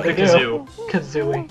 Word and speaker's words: Kazooie: the kazooie yeah they do the kazooie yeah kazooie yeah that's how you say it you're gonna